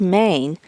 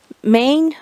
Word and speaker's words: Mayne: chest here I am at the Village of Maine it's not spelled like the state of Maine it's SP m